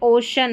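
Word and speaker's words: ocean: तो ये जो ओशन की स्पेलिंग है ना, यहाँ पे हमको सी को श पढ़ना है, ये अलग से याद रखनी है।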